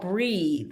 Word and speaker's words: Breethe: Meditation Studio, the Mindfulness app, Waking Up, and then there's one called Breathe, but it's spelled Breethe.